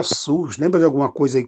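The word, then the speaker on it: סוס: A palavra cavalo em abrit é sus, que se pronuncia sus.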